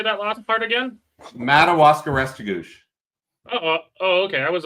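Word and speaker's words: Restigouche: Madawaska Restigouch.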